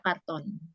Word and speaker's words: carton: kalau itu film kartun kalau o-nya double itu baru baca kartun kalau o-nya satu dibaca karton Oke there is a